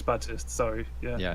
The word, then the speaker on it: Baptiste: There is no P at all, right?